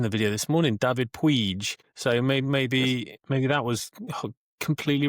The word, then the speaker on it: Puig: Help me out on the pronunciation, Joe. You've met the man. It was Puig, actually, I heard on the commentary today.